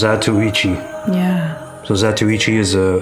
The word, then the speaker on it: Zatoichi: So it's pronounced zatoichi.